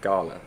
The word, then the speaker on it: Galle: should check it out today we are heading to Gold or as the locals pronounce it gala so there's we know